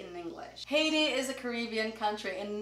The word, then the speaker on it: Haiti: Yeah, Haiti is in Portuguese, but we say Haiti in English. Haiti is a Caribbean country in North America, and most people pronounce it wrong.